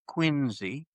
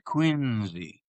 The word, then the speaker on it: Quincy: It was later named Quinzy. Of course that's the way it's pronounced. I always watch these document documentaries that that they do, documentaries, excuse me, and and uh and they sit there and say Quincy. It's Quinzy. That's the way it was pronounced.